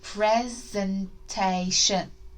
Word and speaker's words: presentation: Okay, let's look at each syllable, each chunk again. Pre. Can you remember this one's sent? A. Shun. Your turn. Bit quicker. Let's blend it together. Oh, my turn. Presentation. Presentation. Presentation.